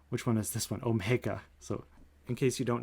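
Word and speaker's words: Ω: don't know your greek letters so this is pronounced f is omega of g which means that there exists a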